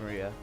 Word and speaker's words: Maria: Of course, this is pronounced Maria.